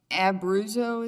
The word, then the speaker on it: Abruzzo: were being prosecuted by abuso is how you pronounce it then that might be